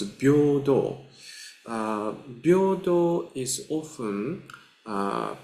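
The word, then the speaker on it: 平等: Uh first of all I just like to show you uh this uh this is uh pronounced as bordo.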